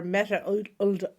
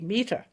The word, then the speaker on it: Mette: Our Guest is Dr Meta Our Guest is Dr metaal an interesting thing for me is that when people see my name written they think it's pronounced meta when it's actually meter but the second thing